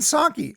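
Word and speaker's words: Psaki: this name jen her name's jen right jen jensocki i had to like look up her name because i didn't know how to pronounce it but apparently it's sake from gen saki biden honoring and valuing indians by saying they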